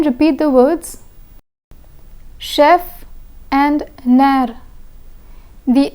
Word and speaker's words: nerf: Chef and nerf. The F in chef is pronounced, but the F in nerf is silent.